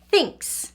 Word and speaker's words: thinks: another letter H and when T is with H they work together to say so that's why this word is pronounced thinks without the H it